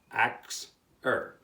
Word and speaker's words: Axir: The Phoenicians called the Ashers by the name of, and I'm going to say it, Axir, which is spelled A-X-I-R.